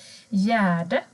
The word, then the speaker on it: gärde: Gärde. Här ser ni ett gärde. G och Ä blir J.